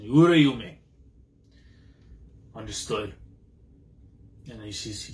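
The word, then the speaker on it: Uraume: So there's the name pronunciation. Urayume.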